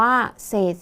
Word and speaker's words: เศษ: เศษ ส่วน อ่าน ว่า เศษ ส่วน นัก เรียน สังเกต คำ แรก นะ คะ คำ ว่า เศษ มี 2 ฤาษี เป็น ตัว สะกด แต่ ออก เสียง พยัญชนะ ท้าย เหมือน ด เด็ก ใช่ ไหม คะ ดัง